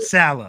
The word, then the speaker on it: Saleh: The defense Robert Saleh.